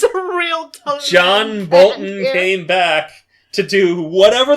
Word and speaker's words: Bolton: we're looking at and it's pronounced boson that's true you are right you um you are correct I am Crossing off giving John Bolton another job but even though I knew it wasn't notable how do we know he's not a boson we don't know that's what